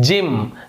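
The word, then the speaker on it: gym: उसी प्रकार से यदि वाई हो तो जी के बाद वाई है तो यहां पर उच्चारण ज हो रहा है, जिम, गिम नहीं हो रहा है, जिम।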